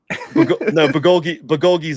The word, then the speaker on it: bulgogi: Yeah, so you can get like a fucking badass like bulgogi sub. I don't know what that is, but it sounds fat. Bulgogi's a beef, Korean beef dish.